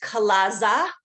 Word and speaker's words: chalaza: not familiar with uh it's um chalazza or more correctly pronounced kalasa plural either chalazzas or